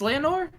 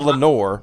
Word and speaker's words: Leonore: I was saying Leonore. I think it's Leonore. Yeah. Leanore. It's not because it's not Lenore, because that would be Le, Yeah.